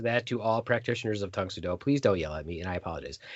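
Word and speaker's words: Tang Soo Do: a bad practitioner of tangsudo that I kept pronouncing it wrong it's Tung sudo sorry about that I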